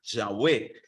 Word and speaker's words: Yahweh: y apártate del mal aquí dice Jehová porque es la pronunciación tradicional Pero la más correcta es teme a Yahweh y apártate del mal